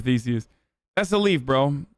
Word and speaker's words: Theseus: It's like a ship of Theseus, but... Or Themesius? I always fuck it up. No, I said it right the first time. Ship of Theseus.